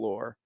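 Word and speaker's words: Lohr: lore by um lore's lore yep Jerry Jerry lore yep that's his name not like lore but it's spelled different l-o-h-r that's correct uh and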